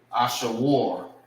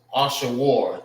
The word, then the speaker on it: Ashur: And how you say his name in the Hebrew is, I'm gonna write it over here. Ashawar. Ashur. It's Ashawar in the Hebrew.